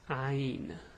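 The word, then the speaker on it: عين: this Letter's name is Ain now the pronunciation is hard the way you pronounce it is ha it's ah it's like the a but it's it's deep from the throat ah I don't know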